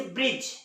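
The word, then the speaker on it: bridge: देखिए दी के पहले ए रहा है वो साइलेंट है उसी तरह से ब्रिज बी आर आई दी जी यहां पे देखिए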